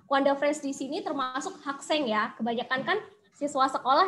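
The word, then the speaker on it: 학생: Siswa atau murid, bahasa Koreanya itu adalah hakseng. Hakseng. Hakseng berarti siswa atau murid. Nah, Kwanda friends di sini termasuk hakseng ya.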